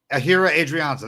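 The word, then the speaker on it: Ehire Adrianza: uh adrianza and uh and uh did i pronounce his name if i already forgot it was his name was ahira adrianza that's right you got it yeah he was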